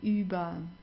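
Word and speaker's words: über: So here you see you have an r at the end. Right before that you have a vowel. Do you remember what you have to do here? Just pronounce it like an a. Uber. Okay. So not uber or anything. It's okay.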